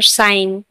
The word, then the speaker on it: sign: Campaign, campaign, campaign ने भी एन से पहले जी है तो जी साइलेंट है। और साइन, साइन ने भी SIGN, साइन।